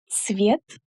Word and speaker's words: цвет: So when pronouncing it, be sure to say ц, the same sound that we have in the word pizza. So it's ts together, ц, and not just s.